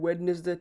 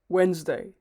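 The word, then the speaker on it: Wednesday: যদিও স্পেলিং অনুযায়ী ওয়েডনেসডে ঠিক উচ্চারণ হবে, কিন্তু নেটিভ স্পিকারদের মতো বলতে গেলে ডিটি আসলে সাইলেন্ট থাকবে। সো এটা অ্যাকচুয়াল প্রনাউন্সিয়েশন হবে Weil's plus day, ওয়েন্সডে, ওয়েন্সডে।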